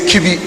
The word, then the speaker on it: Kibi: English lingua we say kibi permit us to say so so it it rhymes with everybody we have another multi-purpose